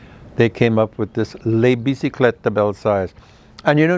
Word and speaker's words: Les Bicyclettes de Belsize: And you know, nobody could ever pronounce that or say that name properly. Everybody always said it wrong, including me at the beginning of, you know, when I first started.